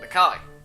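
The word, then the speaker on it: Nakai: You must be Nikai. Nikai? Doesn't Kai have an A in it? I may be wrong. Yes, it does. Nikai. Oh, I was saying Nikki then.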